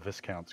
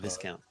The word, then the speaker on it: viscount: it's canteen so I was talking about the viscount's going no that's a Viscount you got 27 it's called a discount you don't pronounce the ACE but but it's a Viscount it's a by count it is a Viscount